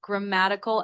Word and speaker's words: grammatical: The word is pronounced grammatical aspects.